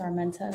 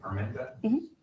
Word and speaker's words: Armenta: Last name is Armenta. V A N E S A R M E N T A I'm pronouncing that correctly. Armenta, thank you for being here so early today.